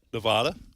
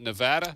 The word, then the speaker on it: Nevada: Nevada, how do you guys pronounce that? Nevada. Not Nevada?